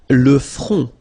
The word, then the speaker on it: le front: Le front. Final T not pronounced.